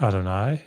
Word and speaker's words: Adonai: the tetr Graton um this is for Adonai as opposed to yah or Yahweh so you know as opposed to pronouncing this Yahweh eloh you'll often hear it I think as I pronounced it Adonai eloh Adon yeah notice that